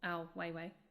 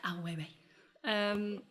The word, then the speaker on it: Ai Weiwei: Do you the question there is, do you think that, for example, Ai Weiwei, if I've said that right. You said it right. You said it beautifully. Ai Weiwei.